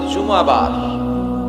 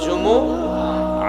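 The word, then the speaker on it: جمعة: বলে ফেলে জুমা জুমা আসলে আরবিতে শুদ্ধ উচ্চারণটা হচ্ছে জুমু আহ আহ সূরাতুল জুমু আহ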